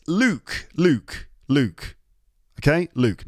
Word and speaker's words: Luke: Not la, not luck, not luck, Luke. And not like, and not. It's not. It's not. It's Luke.